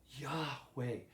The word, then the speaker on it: Yahweh: Rabbi Elder pointed out that when you use the vowels of Adonai, you get something like Yahovah or Jehovah, as some older versions of the Bible had it. But Rabbi Elder said that's probably the wrong pronunciation. Some modern scholars will say that the pronunciation should be something like Yahweh.